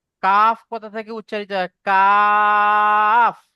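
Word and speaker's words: قاف: জি হুজুর, জিভের গোড়া হইতে একটু আগিয়ে উপরে তালুর সাথে মিলিয়ে উচ্চারণ হয় কফ। কফ নয়, কাফ।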